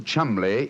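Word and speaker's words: Cholmondeley: Being an American, he had no reason to know that the name Chumli is in no way pronounced the way it is spelled.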